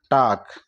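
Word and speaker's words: talk: क ना होकर के एल साइलेंट हो जाएगा और हम इसको पढ़ेंगे टाक तरह डब्लू ए एल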